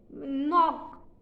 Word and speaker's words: knock: एंड उसके बाद KNOCK नॉक, तो इसमें के साइलेंट है।